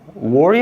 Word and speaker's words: where: keeping all the presents 미드를 안 보면 평생 이렇게 발음하는 거야 where are where 틀린게 아니야 근데 얘가 발음한 들어봐 봐라고 발음 했어라고 War War 거의 그까 내 말은 이걸